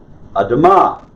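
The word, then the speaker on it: אֲדָמָה: You just barely pronounce the A in the English word amuse, right? Amuse. So, adama.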